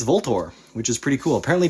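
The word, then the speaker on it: VLTOR: guns originally wore sport had volt or and yes that is actually how you pronounce them I literally had a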